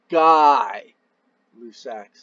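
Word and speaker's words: Gay-Lussac: pretty darn close under lab conditions so it's pronounced die lussac's law guy lussac's law it's French right wheely the pressure and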